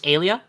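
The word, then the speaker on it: Eilia: Uh her name is uh uh I think this is pronounced Alia.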